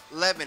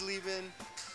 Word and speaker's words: Chris Leben: Because Mike says Leben, I say Leben. Well, German, it's a German name, would be Leben. Leben. So you're both wrong. We're both wrong. Me growing up in South, my family pronounces it Leben, which I think is just like the chopped up, white trash way of pronouncing the name. So it's sort of the Leben, Las Vegas type of pronunciation.